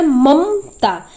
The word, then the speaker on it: ममता: तो इसलिए हम इसमें ए नहीं लगाए हैं, क्योंकि ममता, इसमें म जो है उसका उच्चारण हम जल्दी से कर लेंगे, अ का उच्चारण नहीं होगा, मम, ममता, ममता, मतलब